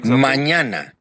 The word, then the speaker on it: mañana: but and yeah well the tilde on top is a little tricky so little bit more difficult to understand it all it almost sounds like me in Canyon okay here is another mañana mañana with me which